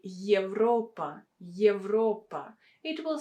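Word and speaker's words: Европа: but in these examples yevra and europa evra europa you can see that they are pronounced a bit different yes here you have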